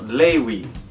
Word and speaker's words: Lavry: So Lavry would actually be pronounced Lewy.